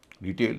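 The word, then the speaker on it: detail: रिटेल डिटेल noun है। टी ए आई एल अगले हिस्से में है। उच्चारण हो रहा है ए। डिटेल। इसमें भी ए आई का उच्चारण ए हो रहा है।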